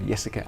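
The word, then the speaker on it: Jessikka: by a Finnish journalist called yesica Arrow that's spelled with a J um that that looks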